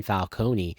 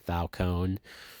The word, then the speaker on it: Falcone: that selena kyle is the daughter of carmine falcone which i know they pronounce it falcone i still say falcone so